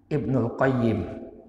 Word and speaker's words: Ibnul Qayyim: Ibnul Qayyim Ya, cara membacanya ada dua. Ibnul Qayyim ini kalau nggak pakai Al-Jauziyah. Tapi kalau pakai Al-Jauziyah, Ibnu Qayyimil Jauziyah. Al-nya pada Al-Jauziyahnya. Jadi kalau nggak pakai Al-Jauziyah, Ibnul Qayyim.